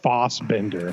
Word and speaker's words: Fassbender: And I believe it's pronounced like Fossbender.